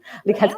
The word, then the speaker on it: Likhatskaya: Likhatskaya. Am I fine with that's pronouncing? Right. Great. Likhatskaya, yes.